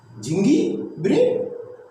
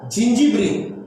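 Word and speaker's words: zingiberene: झिंगी ब्रिन? नहीं, इसको पढ़ते बेटा जिंजीब्रिन।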